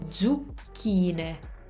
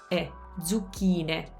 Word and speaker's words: zucchine: And make sure your lips are coming out again on that U. Zucchine, kine, zucchine, not E. Okay, so zucchine.